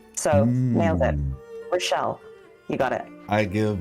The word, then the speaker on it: Rischel: And I always say it's like Michelle, but with an R. So nailed it. Mm. Rochelle, you got it.